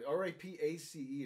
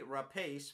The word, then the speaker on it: Rapace: No, it's Rapace, I believe. No, R-A-P-A-C-E is the spelling. Wouldn't that be Rapace? Rapace. Okay, Rapace. I don't think the E would be pronounced.